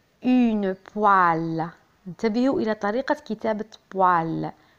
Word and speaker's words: poêle: انتبهوا إلى طريقة كتابة poêle. P O E avec accent circonflexe. une poêle.